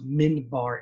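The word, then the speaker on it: minbar: that keyboard wall and the mimbar also sometimes pronounced min bar m-i-n-b-a-r is a little platform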